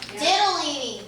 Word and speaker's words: Ditalini: spinach, and then we're gonna be making some Ditalini. Is that how you pronounce it, Monica? Ditalini.